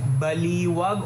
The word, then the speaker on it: Baliwag: sa Baliwag masarap Baliwag Paano ba i-pronounce yun second daw so Baliwag ah Baliwag Okay thank